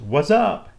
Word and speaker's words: WSUP: and probabilities viewer now the acronym for that is wsup which i believe is pronounced what's up at least that's what the younger generation goes with so i'll go with that